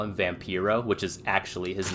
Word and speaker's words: Vampiro: on uh Vampro and he calls him Vampyro and then immediately realizes he called him the wrong name or mispronounced his name. So he says something, you know, something something vampyro. And then he like kind of stops and he goes or as I like to call him, Vampiro, brother.